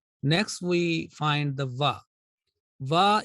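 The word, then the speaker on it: و: Va is also a thin letter, meaning it will be pronounced with a thin sound with an empty mouth.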